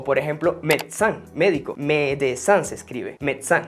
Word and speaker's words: médecin: O por ejemplo, médecin, médico. Médecin se escribe, médecin. Como verán, la primera E es una E aguda. Ya vamos para allá, tiene un acento agudo. Pero la E intermedia, médecin, desaparece.